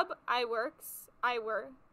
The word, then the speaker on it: Ub Iwerks: Ub Iwerks. That's how you pronounce his name.